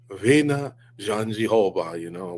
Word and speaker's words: Virna Jandiroba: And so I believe she says, Virna Jandiroba, we're calling her Virna Jandiroba or whatever.